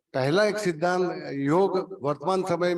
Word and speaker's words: योग: अब हम योग को योग नहीं कहते, योगा कहने लगे हैं।